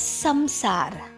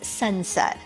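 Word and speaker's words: संसार: pronounce this word as samsara okay i have seen many of my western friends they pronounce it as samsara ok but we indians we pronounce this as sansar but nevertheless it means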